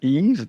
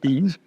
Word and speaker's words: Yves: So, you pronounce my name like Steve without the ST, so Yves.